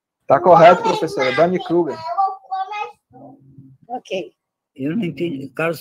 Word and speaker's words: Dunning-Kruger: O Carlos Alberto, se quiser pronunciar correto, se eu não estiver pronunciando, pode pronunciar. Está correto, professora. Dunning-Kruger.